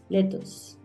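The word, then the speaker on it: lettuce: vamos con la lechuga cómo pronuncias tú la lechuga siempre la estamos mencionando pero a veces no la pronunciamos bien Mira letos letos Let letos oeros onions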